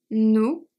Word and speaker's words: nous: Nous, the final S is silent.